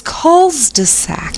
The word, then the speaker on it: culs-de-sac: pages they're next one the plural of cul-de-sac is culs-de-sac oh my people think you're drunk when you're really saying it right that's right calls just